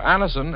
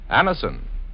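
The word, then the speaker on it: Anacin: Just ask for Anison at any drug counter. It's spelled A-N-A-C-I-N. Anison.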